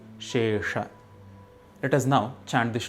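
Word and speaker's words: निःशेष: One also needs to be careful while pronouncing the word Nihshesha. The first sound is Sha, made with the help of the tongue and the palate, while the second sound is Sha, made with the help of the jaw. It is Shesha.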